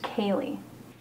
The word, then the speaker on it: Kaylee: Callie, is it? No, it's pronounced Kaylee.